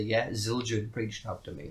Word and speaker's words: Zildjian: I mean I could lie and say yes Zildjian reached up to me right mm-hmm I was like nah it's a cowboy now is it or is it Zildjian it's Zildjian you know my god back then our sins